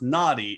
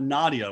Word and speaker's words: Nadieh: her name I'm not it's actually pronounced Nadi it's not nadia which is the mistake that I made so now we all